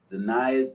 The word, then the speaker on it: Zinnia: It's the flower. Zinnia. Okay. And I love plants. Let's start over. The founder of the nonprofit Lady Zinnia's Inc.